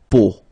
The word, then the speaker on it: peau: it, but then, so the sound that you will have to pronounce when you've got these three vowels combined together, it's the sound O.